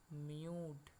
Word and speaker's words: mute: মিউট। সেরকমই university, you, তারপরে consonant, তারপরে ভাওয়েল। তাহলে ইউ এর উচ্চারণ হবে ইউ, ওই জন্য এটা কি হবে?